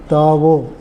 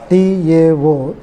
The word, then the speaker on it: Tao: Tao, T-A-O, Tao or D-A-O, Tao or Taoism. D, wherever in Chinese they pronounce D as is their word, that to